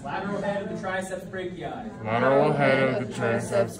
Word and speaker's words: brachii: Biceps brachii. Spelled funny because this is spelled B-R-A-C-H-I-I.